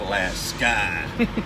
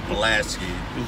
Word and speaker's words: Pulaski: ice cream up there it's pronounced pronounce the last sky don't dare go up there and say Pulaski ppppp pencil a scowl